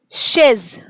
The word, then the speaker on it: chaise: So first one is chaise. So, so it is sounding like sh. So it is chaise.